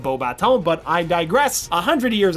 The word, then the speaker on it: Beauxbatons: the Durmstrang Institute and Beauxbatons Academy of Magic, which is ridiculous since that school is in France and should be pronounced Beauxbatons, but I digress.